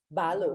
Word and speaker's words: Balu: which is Balu. And there you are. Thank you. And Laura, did I say that right? I said Balu, but it's Balu? Balu.